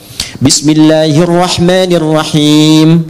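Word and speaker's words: بسم الله الرحمن الرحيم: enggak dibaca ya itu dalam bahasa Arab termasuk di Quran enggak ada harakat akhir dibaca Bismillahirahmanirahim dimatikan Kanya enggak dibaca karena wakaf gak ada orang sehebat-hebatnya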